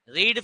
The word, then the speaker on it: read: रीड के case में first form को रीड पढ़ते हो, सेकंड और थर्ड फॉर्म की स्पेलिंग सेम है, लेकिन पढ़ा जाता है रेड। इसको बोलते हैं रीड, रेड, रेड।